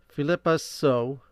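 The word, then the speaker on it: Phillipa Soo: Philippa So.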